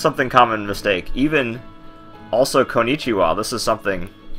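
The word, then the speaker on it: こんにちは: wa but uh you you technically would use that ha letter because it it came from a phrase like this day is or good day that kind of thing and so it was originally the the particle W which is actually a ha but it sounds it sounds like w all right Waluigi so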